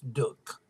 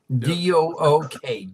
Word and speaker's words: Duke: It's Duke, Dook, Duke. Well, Okay? and they really Duke playing 8 miles from campus. Of course, the average person in North Carolina is really not a Duke fan.